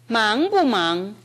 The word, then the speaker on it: 忙: 그렇게 발음해야 됩니다. 그 다음 忙不忙을 다시 들어보십시오. 忙不忙忙不忙.